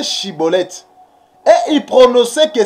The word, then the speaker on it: Schibboleth: parce que des éphraimmites ils avaient des difficultés pour prononcer pour prononcer chibolette et il prononçait que cibolette et il prononçait cibolette